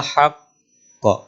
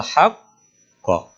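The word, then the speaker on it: الحق: jaakum Minal Haq Q nah jadi antara hak dan Q itu seperti ada jeda walaupun Sebenarnya bukan Jeda tapi untuk memberikan ancang-ancang qqalnya Q itu lebih kuat Bima jaakum Minal haqqo haqqo bukan haqq kalau membacanya Minal Haq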